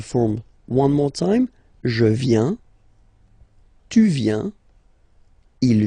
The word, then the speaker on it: viens: First form, je viens, final S not pronounced, je viens. Remember, I-E-N, ien, je viens.